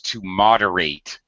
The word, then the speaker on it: moderate: in this case it's moderate the at ending is very much under pronounced it's an unstressed syllable however when it is a verb it is stressed so it becomes to moderate it like eight it's